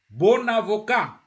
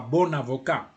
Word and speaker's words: bon avocat: When the word adjective, petit, is isolated, petit, you don't pronounce the T. But here you say petit ordinateur. You join. Petit ordinateur. Bon avocat.